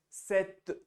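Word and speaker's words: sept: s sank six seven we don't pronounce the P so we end up saying it Set set set number eight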